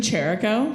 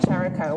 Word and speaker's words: Cherico: It's Cherico. Cherico. Welcome, You have to. pretend there's an A in there. That's not actually in there.